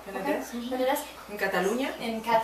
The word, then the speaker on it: Penedès: And so I think I would probably pronounce it the Penedès. Penedès, is that right? Penedès.